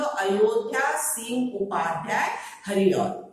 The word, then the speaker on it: अयोध्या सिंह उपाध्याय हरिऔध: उसका पूरा नाम है, अच्छी से सुन लो, अयोध्या सिंह उपाध्याय हरिऔध, ठीक है। इसका उच्चारण ये होगा।